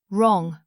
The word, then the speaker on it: wrong: Wrong wrong.